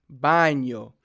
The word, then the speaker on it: baño: will help you if you're having trouble saying the N yay sound so for like baño bad know how to figure out that sound in Italian they don't have that in but they they say it like this baño so if you have that in mind it might kind of help you put together the the word a little better buying yo so I